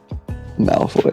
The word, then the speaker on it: Malfoy: everybody names no no there's supposed to be an L moloy right Malfoy Malfoy okay Maloy okay so